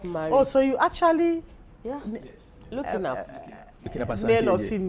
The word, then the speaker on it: Lhuckenharp: Our first child, looking up, got married. Oh, so you actually Looking up.